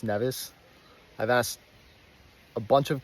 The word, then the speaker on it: Nevis: I did learn was it's got to be pronounced nevas I've asked a bunch of catian at this point and seems like the corm is nevas okay so a few things before I get